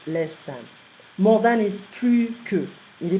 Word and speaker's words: plus: More than is plus que. Il est plus intelligent que. We're not going to pronounce the S.